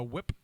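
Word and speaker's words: Fwip: jennifer beals as garcia whip which is filled with an f and it's but it's w they pronounce it whip with no f and it drives me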